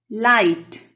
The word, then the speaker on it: light: Light. G and H are silent.